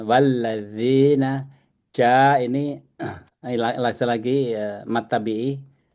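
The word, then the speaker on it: والذين: Saya bacanya tadi bukan lazi, zi. zi. Keluar dikit. Dan la-nya tuh nggak usah ditekan. Walladzina ja ini lagi mat tabi'i 2 jahadu ya.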